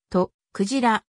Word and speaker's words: 徳次郎: 一般においてはその後もとクジラ特白が恋をされて